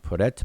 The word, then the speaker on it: prt: It's also translated as PRT, pronounced Peret, but this means to exit.